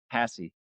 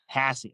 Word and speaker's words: Hassee: Hassy. Hassey.